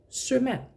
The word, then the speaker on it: sømand: So it becomes, it changes into a pronunciation, a pronunciation of that word without the glottal stop.